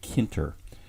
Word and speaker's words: tkinter: may be also pronounced tkinter or sometimes people just pronounce it kenter i believe the proper pronunciation really is tk inter because this is based on a language called tcl tk in which the tk